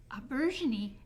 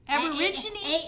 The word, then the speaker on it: aubergine: Aubergine. Aborigine? A-U-B-E-R-G-I-N-E. Is it aubergine? Aubergine. There we go. That's how you say it.